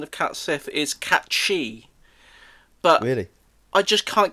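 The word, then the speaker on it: Cait Sith: yeah um cat Sith apparently the the proper pronunciation of cat Sith is cat shei but really I just can't get my head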